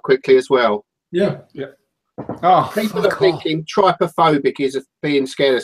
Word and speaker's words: trypophobia: this couch is quite true is the correct pronunciation anyway I'll try because it's trypophobia yes somebody somebody chemically look have a look